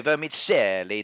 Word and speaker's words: vermicelli: of course we do I've got my Italian accent I can say it so vermicelli there we go it's